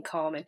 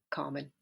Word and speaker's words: Carmen: actually a Spanish name Carmen so you don't pronounce it Carmen at all that's the English Way of pronouncing it you put it you